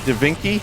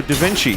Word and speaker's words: Da Vinci: Dinky. No, Da Vinci.